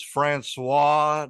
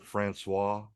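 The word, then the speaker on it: François: Next, we got Vincent Price as Francois Delambre. You like how I said Francois? Francois. Francois, you need to roll your R's, Bubba.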